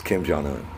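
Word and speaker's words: Kim Jong-un: Kim jong-eun nobody knows how to say his name it's kim jeong-hoon Obie's okay it's bossy not about you it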